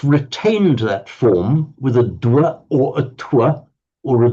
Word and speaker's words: dwa: Dwa. Dwa. Dwa, yes. Okay, it's dwa with a dv.